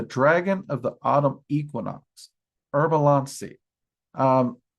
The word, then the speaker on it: Harb-alancee: of the autumn equinox, herbalansi. Um, I do occasionally pronounce it herbalance. Um, and that's because, you know, she has allowed me to pronounce it that way a time or two and I've worked with her for so many years.